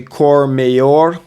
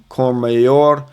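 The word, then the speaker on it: Courmayeur: This one is actually Cormayor, not Mayor. Cormayor.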